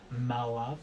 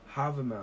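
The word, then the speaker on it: Hávamál: And I think it's called Malava. Let me see if I pronounced that correctly. I had it pulled up just I was gonna say right before we started recording. You got it. Havamal.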